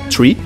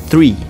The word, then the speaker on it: three: nas palavras tá então não seria TRE também não seria free que aqui significa liberdade então a gente tem um som de TH aqui para pronunciar esse número seria three three a gente coloca aqui a língua nos dentes e vai pronunciar esse s assim quase que um three three Ok Então repitam comigo